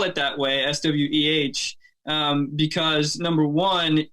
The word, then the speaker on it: Sweh: So the reason why I spell it that way, SWEH, because number one, in Spanish, if you're using the proper Spanish pronunciation, it would actually be Sweh. and not Sweh. So Sweh is like the Americanized version.